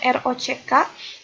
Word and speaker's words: rok: Yang aliran keras itu rock, ditulisnya ROCK, tapi dibacanya rock.